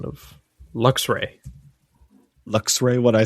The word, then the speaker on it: Luxray: I thought you were going to say that he scolded you for your pronunciation of Luxray. Luxray? What'd I say? Luxray? Yeah, you're adding an extra syllable in there.